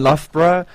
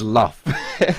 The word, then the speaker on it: Loughborough: There's no F in Loughborough, but their clan tag is Luff. So, because that's how you say it.